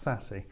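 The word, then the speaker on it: SASE: uh tom mcveigh from menlo and it is pronounced sassy see these networky people got lovely names for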